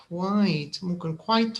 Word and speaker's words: quite: so here it says quiet is two two quite one syllable uh here this is